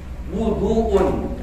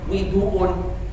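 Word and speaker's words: وضوء: Wal aqsah, yang paling fasih dalam bacaan kalimat wudu itu dumma wa wudu, di dhammah wawunya. Wuduun, bacanya wuduun, jangan widuun, ya kan? Atau waduun. Tapi wawunya di dhammah.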